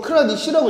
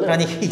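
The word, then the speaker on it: Kranich: 이거 크라니치라고 읽어 달래? 크라니히. 예. 크라니히. 예. 독일어래요, 독일어.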